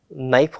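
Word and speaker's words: knife: नाइफ हो गया, नाइफ में भी के ही स्टार्ट करता है स्पेलिंग को, बट उसमें स्टार्टिंग में हम लोग के नहीं बोलते हैं, कनाइफ नहीं बोलते हैं, नाइफ बोलते हैं उसको, याद आ गया, ठीक है।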